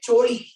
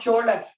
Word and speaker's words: choli: Kupya choli, not chola, choli.